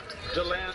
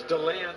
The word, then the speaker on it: DeLand: How do you know it's DeLand instead of DeLand? I'm trusting the people that are local to the area when they call it DeLand.